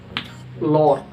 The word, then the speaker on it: Lord: Lord, Lord, Lord. Karena O ketemu dengan R maka dibaca panjang. Lord.